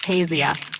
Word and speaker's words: Taisia: My name's Taisia, pronounced Tasia.